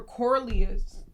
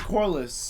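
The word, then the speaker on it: Corlys: like taking um um Laura corlias how do you say I'm sorry guys I keep saying his name wrong Lord Corliss yeah I feel like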